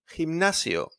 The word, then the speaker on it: gimnasio: And then one is followed by an I as well, like in gimnasio.